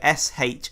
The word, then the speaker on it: shillelagh: So, final spelling, SHILLELAGH. Why is there so many silent fucking G's? So that was... And that's pronounced shillelagh.